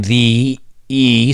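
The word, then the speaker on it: Thee: b's and megan v there's an extra e in there so i have to make sure to pronounce that i don't want to be offending to her fans megan the e stallion came out with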